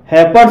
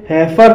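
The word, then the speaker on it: heifer: जैसे हैफर, हैफर शब्द में ई आई का उच्चारण ए हुआ है, इसलिए इसे हैफर पढ़ा जाएगा और हैफर मीन्स होता है गाय की बच्ची या बछिया।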